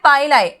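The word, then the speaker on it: pili: हैं, ठीक है, और इनको हम लोग बोलते हैं पाइलाई, ठीक है, जिसका प्रोनाउंसिएशन काफी सारे टीचर्स पिलाई भी बोलेंगे, बोथ इज करेक्ट, ठीक है, both are correct, none of them is wrong pronunciation, okay.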